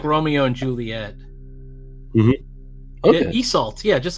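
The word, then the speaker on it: Isolde: like it's almost like Romeo and Juliet okay esult yeah just like you said it that's that's how it's pronounced so um the Irish pronunciation and the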